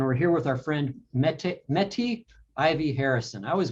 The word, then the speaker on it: Mette: here with our friend mette meti ivy harrison i always blow the first name is it mette or metis um it's a danish name and it's supposed to be pronounced meta but my mother's name